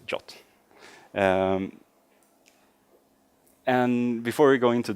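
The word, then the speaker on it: JWT: tokens or gave et or as they want to pronounce in shots so I'm going to be saying jot so not not a jot but jot and before we go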